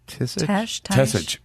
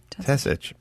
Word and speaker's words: Tesich: Steve, is it, how do we pronounce, written by Steve Tisich? Tesich.